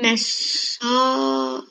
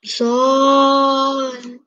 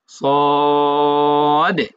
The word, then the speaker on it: صاد: ألف ألف لام ألف لام ميم صاد সদ, স হবে না, স হলে তো জবর হয়ে যাবে, মানে পরিপূর্ণ হরফ উচ্চারণ করতে।